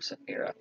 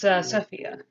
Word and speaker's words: Sophia: I almost called her Safira. The two names are rather close together in pronunciation, but it's Sophia.